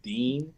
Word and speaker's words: Din: get it but like d-i-n okay well his name is pronounced Dean yes yeah that's what